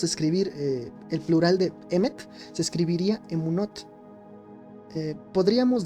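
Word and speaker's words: אמת: Se dice emet. Emet. Lo he escuchado incluso como nombre. Se escribe alf mem t tres letras y significa verdad.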